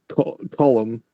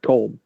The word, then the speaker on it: Colm: So you've got the was it Scottish for the ghost, and I was always pronouncing column, which is how you correctly pronounce it. I was always pronouncing it colm.